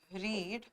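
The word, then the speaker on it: read: आई रीड a book.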